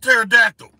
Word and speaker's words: pterodactyl: that's how it's pronounced it starts with a P but it's pronounced pterodactyl so the key thing